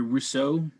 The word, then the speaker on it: Rousseau: Gregory Rousseau.